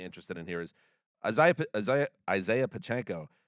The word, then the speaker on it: Pacheco: in here is Isaiah Pacheco. That's a tough name for me. Pacheco. He's been good. And said it right.